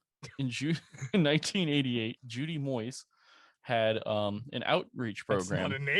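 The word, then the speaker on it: Moise: June in 1988 Judy Moyes had um an outreach program names m-o-i-s-e I'm always like Boise Idaho like it's just Moyes though she was in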